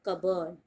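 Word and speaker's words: cupboard: आर भी नहीं बोलना है आपको, पी तो साइलेंट है ही, आर भी आप नहीं बोलोगे और आप बोलोगे इट्स कबर्ड।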